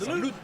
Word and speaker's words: salute: But if you see any Italian shows, there's a salute. But it's not with the D, it's with the T. It's kind of more like a salute.